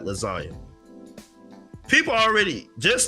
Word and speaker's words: lasagna: If you know how to spell lasagna, how to say lasagna, you know that the G is silent.